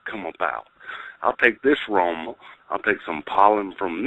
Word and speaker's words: Roma: Yeah, Roma.